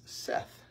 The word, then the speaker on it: saith: pronounce it and it's Seth thus Seth the Lord not saith it's not two syllables it's one syllable so now that I've